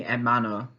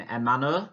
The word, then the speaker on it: hermano: in the last two, in hermano and hermana. Remember not to pronounce the h.